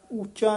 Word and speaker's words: उच्चा: उच्चा नहीं कहना है उच्चा औंकड़ नाल उच्चारण करना है पंडित पढ़ पढ़ उच्चा कूकदा।